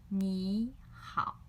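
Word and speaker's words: 你好: So when two third tones together, we will change the first third tone into second tone. We will say 你 and then 好. 你好. It sounds loud and clear.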